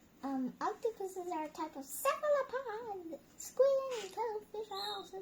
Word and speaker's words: cephalopod: How do you think we pronounce this word? Cephalopod.